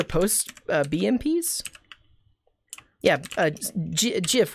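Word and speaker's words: GIF: uh bmps yeah uh jif with a soft g yes that's a good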